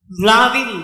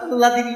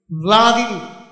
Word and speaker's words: হ্লাদিনী: ভ্লাদিনী উচ্চারণটা আহ্লাদিনী নয়, হয় লয় আকার, দয় হস্যই মধ্যাহ্নয় দীর্ঘই। ভ্লাদিনী অটা সামান্য উচ্চারণ, লটা বেশি।